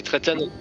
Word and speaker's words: Trayton: Hein déjà félicitations à Trayton. C'est ça, si je prononce bien. Oui, c'est ça. Oui. C'est Trayton.